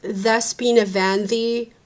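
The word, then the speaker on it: Δέσποινα Βανδή: So I was like, okay, I wanted like, it's actually pronounced Despina Vandi, but it's written as Despina Vandi because Greek.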